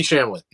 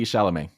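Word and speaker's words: Chalamet: a Marvel movie yeah Timothy shamlett what it's awesome not how you say his name Timothy shalamet Timothy wow Timothy okay Timothy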